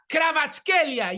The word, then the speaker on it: Kvaratskhelia: Cholo's son, of course, to Tanguy Ndombele, to my favorite, Ivica Kvaratskhelia.